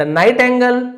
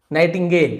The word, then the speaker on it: nightingale: One final day, और एक आखिरी दिन, द नाइट एंगल lead 2 eggs. नाइटिंगेल, है ना, मैं नाइट एंगल पढ़ दिया था, नाइटिंगेल है, प्रोनाउंसिएशन में यहां पे गलती हो गई, नाइटिंगेल, नाइटिंगेल, हाँ नाइटिंगेल है, ठीक है।